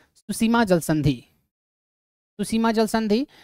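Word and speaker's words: Tsushima: हैं सुसीमा जल संधि सुसीमा स्ट्रेट टी से होगा टी साइलेंट होता है इसमें तो सुसीमा स्ट्रेट किसको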